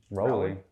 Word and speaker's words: Powley: It's Rowley.